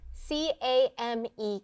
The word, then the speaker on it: came: rasheed i'm noticing that the snap word came has a silent e at the end the e doesn't make a sound but it makes the a make the long vowel sound next we spell it